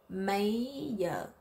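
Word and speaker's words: mấy giờ: a d yeah so in the South the GI we said like a d yeah May yo is what time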